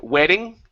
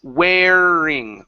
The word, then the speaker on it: wearing: next one is wearing give me a good R here instead of wedding weding it's wearing wearing wearing okay one more time